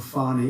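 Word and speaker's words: Fani: you bar and fairly she goes by the name of fonnie even though it's F A ni I she wants a pronounce f she's little little French little French accent and her lover and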